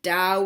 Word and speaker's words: Tao: spelled with a T if you see Taoism spelled T AO is M or just the word Dow with the T it is still pronounced with a D sound there are two ways